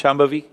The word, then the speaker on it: Shambhavi: so this process is called shambhavi can you pronounce shambhavi shambhavi yeah that's great once you do it you